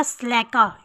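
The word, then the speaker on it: slacker: इसको स्लैका नहीं पढ़ेंगे, आज साइलेंट होगा, स्लैका।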